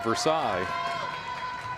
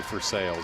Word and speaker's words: Versailles: She is a sophomore from Versailles. Or actually, I'd be Versailles. I'm thinking the French pronunciation there.